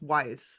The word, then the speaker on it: Weiss: And it's not a perfect pronunciation of my name, but if you look at it and you're like, yeah, I can see how that's Weiss. So the more common pronunciation would be Weiss, but really Gaia Weiss is quite appropriate.